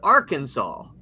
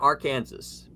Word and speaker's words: Arkansas: It is Arkansas and not Arkansas. I'd love to know how the pronunciation came about because I figured it out.